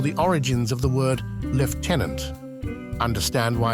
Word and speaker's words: lieutenant: that has puzzled many The Curious Case of Lieutenant versus leftenant this isn't just about a word it's a